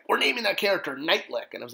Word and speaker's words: Neitlich: the four horsemen created which was the character night lick nit T Li i k which is how you pronounce my last name my last name being